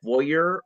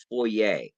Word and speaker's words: foyer: Is it pronounced foyer or foyer? And it turns out, yes, they are both correct.